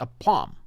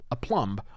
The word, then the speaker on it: aplomb: they delivered it with a palm a plum a however we pronounce that word aplomb i think is how we say that now i'm not suggesting